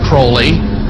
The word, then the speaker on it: Crowley: likes the penis name pronounced Crowley to rhyme with holy and these statements today